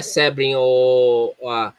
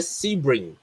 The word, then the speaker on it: Sebring: Não é Sebring, se pronuncia Sebring. E a grafia tá errada. Sebring, não é, o E não tem um acento agudo, AVC. O E não tem acento agudo, é Sebring. Ok. No inglês. Obrigado.